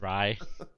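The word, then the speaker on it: Rai: It's R-A-I. It's rye.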